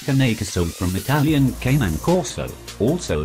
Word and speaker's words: Cane Corso: Pronounced Cane Corso from Italian Cane Corso, also known as the